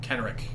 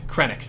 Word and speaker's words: Krennic: and villains will in fact be Jin and Kenrick or Kennick. How do you say his name? Kenrick. Krennic. That's it. Krennic?